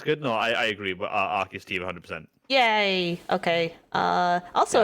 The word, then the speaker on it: Arceus: Arceus tier. Yeah, well, that's good. That's good. No, I agree. But Arceus tier 100%.